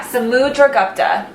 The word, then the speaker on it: Samudragupta: mudra gupti when we say this yeah samudragupta the pronunciation is the second paragraph from the top